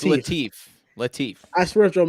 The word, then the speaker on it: Latif: I swear if Joel mispronounces my name. It's Latif.